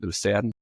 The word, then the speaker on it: Lucerne: But yeah, that's an interesting town because there's two ways to really pronounce it: Lucerne and Luzern.